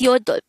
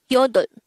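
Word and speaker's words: 여덟: Next, the native Korean version of number 8 is yodol. Again, yodol. First syllable is yo, the second syllable is dol.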